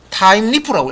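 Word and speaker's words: Thymeleaf: 타임리프라고 읽으시면 됩니다.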